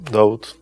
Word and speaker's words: Dawood: I changed the pronunciation, David to Dawood.